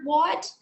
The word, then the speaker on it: what: you read the word what you need to pronounce the letters w-h as wha and the letter a as uh but when you write